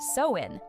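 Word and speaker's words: Samhain: When the veil was thin, long before Halloween had candy or costumes, there was Sam Hine, pronounced sewin.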